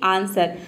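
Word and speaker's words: answer: रहता है तो देखिए यदि किसी वर्ड में एस डब्लू एक साथ हो या फिर एस के बाद डब्लू हो तो वहां पे डब्लू लेटर साइलेंट रहता है जैसे कि आंसर देखिए डब्लू का प्रोनंसिएशन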